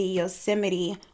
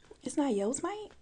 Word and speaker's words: Yosemite: Fun fact, I used to pronounce Yosemite Yosemite. And it wasn't until Travis Scott came out with Astro World that I was like, I've been saying it wrong. It's not Yosemite?